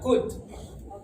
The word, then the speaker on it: could: Tadi ketika mengucapkan kalimat could you connect me telepon number, ya cara membaca could ini sebenarnya huruf L-nya tidak dibaca dengan jelas. Ya, dia ada tapi dianggap tidak ada. Ya, jadi cara bacanya could.